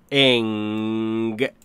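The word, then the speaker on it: English: میشه لس تکن انگلش مشکلی که ۹۹ زبان آموزا دارن اینجوری تلفظ ان گلش گلش تکرار کن خودتم همین جوری داری تلفظ می‌کنی من که میدونم دیگه به من نگو که انگلش انگلش یعنی استرس رو میذارن اینجا انگلش نیست دورت بگردم انگ تا اینجا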